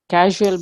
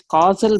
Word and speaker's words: causal: I think you pronounced it casual body. It is causal body.